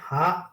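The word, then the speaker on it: ه: 1 নম্বর মাখরাজ হলো হলকের কণ্ঠনালী হা আর হামজা। হালক বা কণ্ঠনালীর শুরু থেকে, শুরু হইতে। হ্যাঁ, এটা বলতে হবে তো। হলফের কণ্ঠনালীর শুরু হইতে হা আর হামজা।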